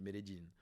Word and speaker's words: Medellín: Tout le monde dit qu'on peut aller à Medellín, que d'ailleurs en Colombie on dit Medellín. Pourquoi? Parce que c'est leur prononciation.